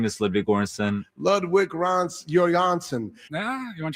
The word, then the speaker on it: Ludwig Göransson: My name is Ludwig Göransson.